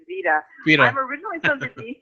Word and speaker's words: Vida: were originally from oh the pronunciation of my name is vida you never originally don't